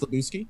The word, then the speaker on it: Lebowski: I want to say was it Big Lebowski? Was it Big? You were starring. It's pronounced Lebowski.